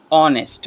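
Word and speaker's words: honest: Like an ऑनेस्ट मैन, एन ऑनेस्ट मैन, या एन ऑनेस्ट मैन। देखो एन ऑनेस्ट, ये अलिफ की आवाज़ हमें देता है क्योंकि यहाँ पर एच क्या है, साइलेंट है।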